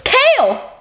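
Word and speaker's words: Chaol: yes but I'll the a good example is kale in this it's kale it's one syllable that's so it's one kale so until I heard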